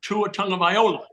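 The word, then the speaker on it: Tagovailoa: Viola first of all I think I could pronounce it Tu a Tong of Viola correct I think Dan messed that up wait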